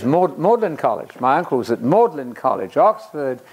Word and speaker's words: Magdalen: Worcester British people are very inconsistent with their pronunciation Magdalene is modern college my uncle's at maudlin College Oxford not Magdalene II please another morning and so on so